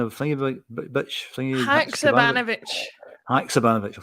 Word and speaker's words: Haksabanovic: Haksabanovic. Haksabanovic. I'll say that 3 times. Haksabanovic.